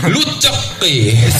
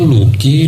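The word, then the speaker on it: Lucki: manggil saya pakai kol-kolah, Luceki. Mungkin karena di tengah nama saya ada huruf C-nya ya. Jadi orang bingung tuh, kok bacanya Lucky, Luceki apa baa?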